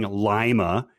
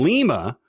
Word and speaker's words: Lima: can be heard saying lima as in the nato fanatic alphabet however he pronounces it the wrong way saying lima as in the ohioan city rather than lima which is the correct pronunciation so l-i-m-a i should